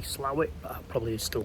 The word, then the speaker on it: Slaithwaite: to say like the the pronunciation of this place isn't SLA weight it's actually slow it I probably still call